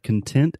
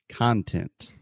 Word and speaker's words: content: here Alexa we have content as an adjective which means happy satisfied you're content yeah we also have content we spell this the exact same way but it's pronounced differently and this is used